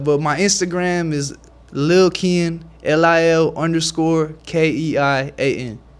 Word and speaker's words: Keian: It's like it's like when you say it like Ian, you like just with the KE in front of it. Uh-huh. IANKE, like KEIAN.